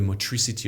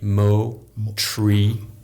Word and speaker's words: motricity: It's a French word, motricity. Oh, it's not But in English? Yeah, it is in English, but nobody knows it. M-O-R-T. I R. M-O-R-T. Mo-tree.